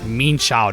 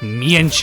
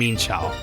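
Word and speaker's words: Mienshao: And by the way, yes, it's actual pronunciation is meansho, not mesh or mianfu as people like to call it.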